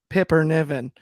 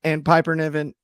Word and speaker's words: Piper Niven: Bailey and Piper, or as Ben Allison, our good friend, calls him, Pipper Niven. He said it both yesterday. He said both pronunciations. Yeah, Rowdy Roddy Pipper Niven.